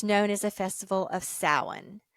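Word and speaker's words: Samhain: Celtic tradition it's known as a festival of sowan spelled s-a-m-h-a-i-n but pronounced Saline so as the season shifted and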